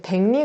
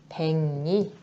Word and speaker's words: 백리: 이제 백리 같이 볼게요. 백리는 이 두 번째 경우에 해당하죠. 받침 기역 뒤에 오는 리을은 니은으로 발음한대.